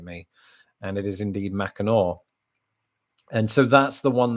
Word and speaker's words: Mackinac: and the entire segment on that i was pronouncing it mackinac not having a clue how it was actually pronounced i mean i just i never doubted that it was pronounced mackinac so i didn't really question myself and then